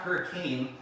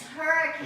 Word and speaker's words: Hurricane: had fun in hurricane when you're in utah it's not hurricane it's hurricane it's hurricane that's right you gotta say it right so what are we